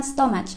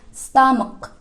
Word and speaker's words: stomach: Kalau dalam bahasa Indonesia bacanya stomach. But in English you have to say stomach.